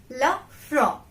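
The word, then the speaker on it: le front: pronunciation forehead love fro la fro repeat after me la fro it's la fra though we have t in the ending of word but we will not pronounce it okay there are some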